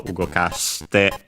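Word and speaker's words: 動かして: And so ugokaste, as a rule for the accent, in the te form, the accent then falls on the third to last mora, syllable. And so ugokaste, as a reminder, again, the rule that E and E between unvoiced consonants is barely heard, if at all.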